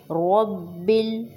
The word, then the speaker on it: رب: word الحمد، الحمد للہ رب را کو موٹا، با پر زور دیں گے شد کی وجہ سے، رب العالمین، عالمین، الحمد